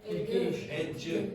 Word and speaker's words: education: Education. Educ education. Okay. So this here will become like that. This is pronounced like a J.